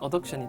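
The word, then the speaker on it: adduction: 엇 억센 이 되겠습니다 일부 발음을 a 비덕 c 언어 옵션 이라고 말하기도 많이 하는데요 정확한 방법은 어브덕션 어 덕신 되겠습니다 발음 관련 한번 보시면요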